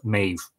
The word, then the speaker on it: Medb: Sorry, M-E-B-H-D-H, which would be pronounced Maeve.